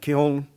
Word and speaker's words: kiln: Created in a white-owned shop using the European technology of the potter's wheel and kiln, which incidentally in the South is pronounced with a silent N as kill, and the European jug